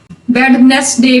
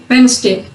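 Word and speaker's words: Wednesday: Before N, डी जब एन से पहले होगा तब भी साइलेंट होगा। हैंडसम, हैंडसम सही वर्ड नहीं है, हैंडसम। वेडनेसडे भी नहीं है, ये वेडनेसडे।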